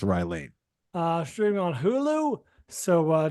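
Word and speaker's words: Rye Lane: misspell that Ry Lane you said Ry Lance yeah it's Ry Lane thank you for catching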